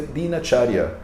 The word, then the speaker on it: Dinacharya: Então, mesmo que a palavra seja Dinacharya, a gente não pronuncia Dinacharya, a gente pronuncia Dinacharya, porque ela é A e aí ela cai para A.